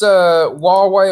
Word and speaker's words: Huawei: on right now this is kind of this Huawei or we where we should whichever we would pronounce it that that's that particular story is